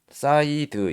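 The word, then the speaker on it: side: 근데 뒤에 알파벳 E가 왔기 때문에 SI가 I 그대로 발음이 되는 거예요. 그러면은 이 이렇게 발음이 된다는 얘기겠죠? 그리고 D 알파벳 D인데 디귿, 그리고 이는 발음이 안 돼. 이는 발음이 안 돼. 이 발음이 될 수도 있고 에 발음이 될 수도 있지만 이 발음은 안 돼. 그러니까 드 이렇게 되는 거예요. 그래서 자, 이거를 사이드 이렇게 하면 되겠죠? 사이드. 그쵸? 시옷 이드, 사이드, 이렇게 사이드, 이렇게 발음을 할 수가 있어요.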